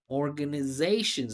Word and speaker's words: organizations: your accent distracting is your unstressed syllables especially salabic consonants listen to how He says organizations. Listen to how I say it. Organ organizations.